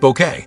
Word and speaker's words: Bucket: Best known for bringing the unforgettable hyestent bucket, pronounced bouquet, to life and keeping up appearances from 1990 to 1995, she became a national treasure and earned two BAFTA nominations.